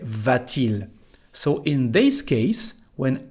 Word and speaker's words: va-t-il: We don't say va-il, but we say va-t-il.